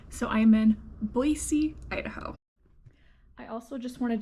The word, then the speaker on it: Boise: to admit at first I was calling it Boise Idaho and I learned real fast that that is not how you pronounce it it is Boise so I am in Boise Idaho I also just wanted to show you